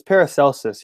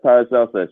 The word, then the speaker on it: Paracelsus: It's Paracelsus, yeah? Yes, Paracelsus. It's I don't like know why. I don't know the why I said, degrees Celsius, yeah. but without the I.